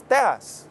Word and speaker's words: Tejas: How was Texas originally pronounced? It was Tejas.